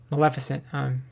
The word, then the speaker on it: Maleficent: And then I didn't watch the second one, but I think I should watch the second Maleficent because Maleficent is how you say it, because I think I'd like it more now that I'm older, more mature.